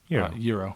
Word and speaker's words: gyro: Do you say Euro or Gyro? Euro.